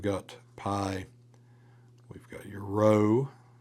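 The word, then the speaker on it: rho: Uh, row, that you don't do as a P, but rather you do as a R.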